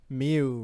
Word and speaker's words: Mew: no wait he's meu Mew rhymes with two rhymes with me and you is this happening Justin